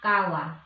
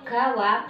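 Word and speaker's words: 川: Kalau dia nggak ada namanya, bilang sungai gitu aja, maka bilangnya kawa. Nah, itu onyominya ada seng, tapi seng ini hampir tidak pernah digunakan.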